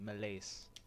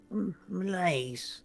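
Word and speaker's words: Milaise: Uh, so it's how it's specifically spelled is m i l a i s e. Malays. Thank you. But it's pronounced like it's m i l a ys. Malays.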